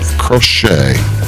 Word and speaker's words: Crochet: is Carlos Carrasco versus Garrett crochet spelled like it sounds c a c o c h e t just like you're doing needle needle work my name is